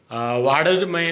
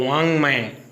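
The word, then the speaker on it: वाङ्मय: बिंदी और हलंत है, तो इसको आप वाडरमय न पढ़ें। तो इसका उच्चारण है वो नाक से होगा, तो वांग्मय।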